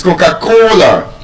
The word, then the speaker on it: Coca-Cola: It's Coca-Cola. The stress is on the third syllable.